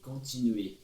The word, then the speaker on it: continuer: De continuer. Não pronuncie o R final também.